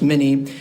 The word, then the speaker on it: minna: And they use the word minna, pronounced mini, and it means water.